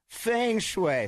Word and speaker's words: feng shui: Feng shui.